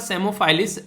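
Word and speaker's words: Psammophilus: तो P silent है यहाँ पर, तो सेमोफाइलिस और डोरसैलिस, तो ये इसका नाम है जो कि पी साइलेंट है, पी नहीं बोला जाएगा।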